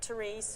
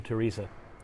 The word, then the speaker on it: Therese: We've had hello from Therese from Dublin. Hello, Therese from Dublin. Is it Therese or Teresa? I would say Therese. It's an E at the end.